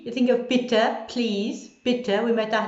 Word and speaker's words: bitte: But I think when you're pronouncing E, you think of bitte, please, bitte.